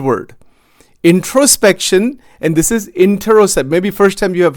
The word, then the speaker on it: interoception: It's a technical word, introception, intercept. I'm not saying it right even. It's interoception, interoception, interoception. That's how it is pronounced.